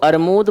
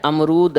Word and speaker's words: अमरूद: हम बात करें तो वो अमरूद को अरमूद बोलने लगा, है ना। अब सही शब्द क्या है, अमरूद है, और वो क्या उच्चारण कर रहा है, अरमूद।